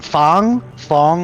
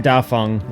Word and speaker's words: Dafeng: Is it Fong or Feng? F-E-N-G, Dafeng. Okay, Feng. Okay, that's south. They pronounce it Dafeng in the game.